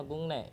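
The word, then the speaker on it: 국내: yaitu kosakata gungne ini dibacanya gungne ingat gungne G ini dibacanya Gung Kenapa dibacanya gungne hitnya akan berubah menjadi ketika ketemu sama nian Oke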